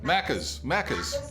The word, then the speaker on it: Macca's: Is that how you say it? Macca's? Macca's, yeah.